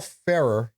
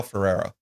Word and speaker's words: Ferrer: Um, in the groove, it features Miguel Farah. Is it Farah? Is that how you say it? I Miguel Ferrer.